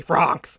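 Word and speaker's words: Franxx: I don't know how you pronounce it, but I think it's funnier to say Francs. Yeah. France. Oh, that's how they say it in the show.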